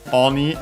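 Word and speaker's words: 鬼: Uh I yeah, Oni as we've mentioned already, it's a ogre, the demon. Center on the last syllable on its own.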